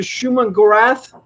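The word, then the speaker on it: Shuma-Gorath: strange was standing in another realm talking to schumann gorath is that how you pronounce the name of yeah nailed it for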